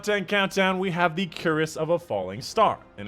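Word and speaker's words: Cuirass: Coming up at number 2 in this top 10 countdown, we have the Curious of a Falling Star. And in case you're wondering, it is pronounced Curious.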